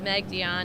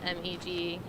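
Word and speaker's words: Meg Dionne: thank you hi everyone my name is meg dion it's spelled m-e-g-d-i-o-n-n-e good afternoon and thank you for coming my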